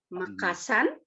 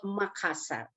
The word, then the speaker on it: Makassar: very interesting actually but nowadays we call makassar okay let me explain let me explain why it's very hard for foreigners to pronunciate the consonant r look at this linguistically yeah r is the roll consonant where you use your tip of your tongue and roll it to your top of your roof of your mouth